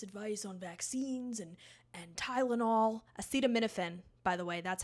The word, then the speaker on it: acetaminophen: Acetaminophen, by the way, that's how you pronounce it.